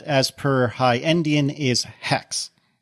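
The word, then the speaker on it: Haxe: Well, apparently the correct pronunciation for that, as per High Endian, is Hex. Not Haxi, which is, I believe, what all of us agreed it probably was. I went for Hakes or Hacks.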